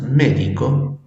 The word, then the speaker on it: médico: Las palabras médico y médicos son.